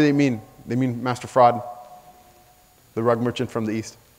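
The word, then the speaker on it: Farad: He says he's Master Fraud. Master Fraud. They literally say Master Fraud. Okay? They spell it F-A-R-A-D, but they say Master Fraud.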